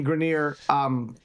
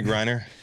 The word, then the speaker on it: Griner: that I should be less critical of Brittany Grenier because of her status being a part of two historically disenfranchised categories. Brittany Griner.